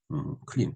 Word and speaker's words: 클린: 좋은 세상 세상이죠 그런데 세탁을 크린이라고 표기하는데 이런 틀린 것이다 즉 영어의 클린 clean 클린 깨끗하게 한다면 영어의 을이 없죠 우리가 쓰는데 근데 실질적으로 발음을 싹 내려야 됩니다 그러니까 흐린이 아니고 클린이에요 올바른 표기법은 이러한 현상은 일제라는 과거로부터